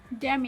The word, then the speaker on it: Damn: Damn it. হ্যাঁ, DAMN, এটা শেষের এনটা উচ্চারণ হয় না।